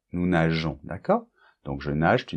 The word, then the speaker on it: nageons: Donc là, pour que la prononciation soit régulière, on doit rajouter ce petit E qui fait que on prononce nous nageons. Nous nageons.